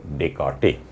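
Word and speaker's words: Descartes: স্পেলিংটা ডেসকার্টে, কিন্তু উচ্চারণটা হলো ডেকার্টে।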